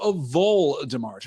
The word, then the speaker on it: Voldemort: Oh, vol rhyming with ball, says Cecil. So, Voldemort. Right. Okay, I can see that. Interesting. Yes. Okay, not vol like the rodent.